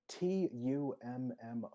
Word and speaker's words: Tummo: How do you pronounce that again? Tumo? Tummo.